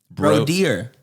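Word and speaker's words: Brodir: I'm a descendant of Broder. Brodeer was how they pronounced it at the time.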